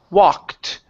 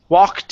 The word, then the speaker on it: walked: So, you're pronouncing the K. You're saying walk and then you're skipping the T sound and you're moving right to the N. So, all I'm hearing is walk in.